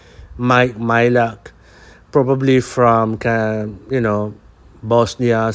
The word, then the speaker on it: Majlak: for the second name m a j l a k you don't mention the j at all so it sounds like i so my my luck i think that's how we pronounce it i don't know where